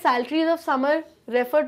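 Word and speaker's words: psaltery: musical instrument होता है सैलरी पी जो है साइलेंट होता है सैलरी में इसलिए हम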